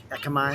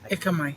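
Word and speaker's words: Ekkamai: Me and you like Akamai. How do you pronounce that? Ekamai.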